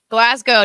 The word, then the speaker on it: Glasgow: Glasgow, don't pronounce the W.